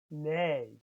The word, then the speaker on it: nee: No is nee. Remember that double E in Dutch is the sound A, not the sound E.